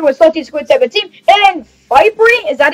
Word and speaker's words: Fyprie: Today I'm talking on Discord with Salty Squid 17 and Fyprie?